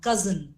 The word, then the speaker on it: cousin: for me cousin yeah we generally use the S sound but it has the z sound cousin it's not Cousin It